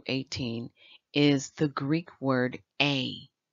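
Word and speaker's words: ἤ: is the greek word a it's spelled with an e but pronounced with the long a sound this is found or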